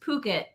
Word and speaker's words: Phuket: Oh, it's pronounced Phuket.